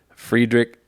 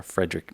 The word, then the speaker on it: Friedrich: most often associated with friedrich nietzsche or frederick nietzsche it depends how you want to say but i think the first pronunciation is correct um he argued that